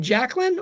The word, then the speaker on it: Jacqueline: Do you pronounce this name Jacqueline or Jasine? So, I would pronounce that Jacqueline. Jacquine. Me, too.